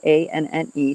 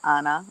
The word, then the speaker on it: Anne: pronounce her name um some people pronounce the e at the end so it's a-n-n-e saint anna or son saint anne